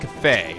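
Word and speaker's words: Kafei: can't pronounce it currently it's pronounced cafe like cafe so okay okay so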